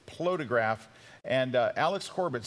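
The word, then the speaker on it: Plotagraph: I've been mispronouncing it always. It's Plotograph.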